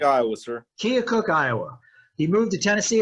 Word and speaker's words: Keokuk: Iowa how do you say that science fair Keokuk Iowa sir Keokuk Iowa he moved to Tennessee as a young